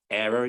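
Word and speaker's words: Éire: it's new Earth island which is e-i-r-e error is it air oh yeah yeah follow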